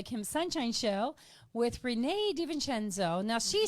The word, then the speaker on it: DeVincenzo: I'm Kim Sunshine on the Kim Sunshine Show with Renee DeVincenzo. Now, she says it DeVincenzo, but I know the proper pronunciation.